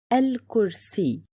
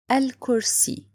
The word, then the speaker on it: الكرسي: Let's have, for example, one of them, الكرسي. Let's remember the points. First, it's لام قمرية. Why? Because here I write it and I pronounce it.